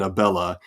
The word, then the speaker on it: Abella: Abella, the ab in Abella is the pickup to the bell.